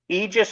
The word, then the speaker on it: Aegis: And as far as the pronunciation goes, Aegis or Aegis are both acceptable pronunciations of the name. We go with Aegis because from what I could tell, it was